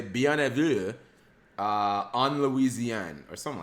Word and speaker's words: bienvenue: It's pronounced bienvenue.